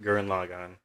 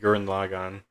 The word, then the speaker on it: Gurren Lagann: answer but george was pretty good i liked gurren lagann i think that's my favorite yeah it's a goodie garen lagann yeah you're only going to dawson i love green again okay i keep pronouncing it guren logon you're i i saw your favorite character with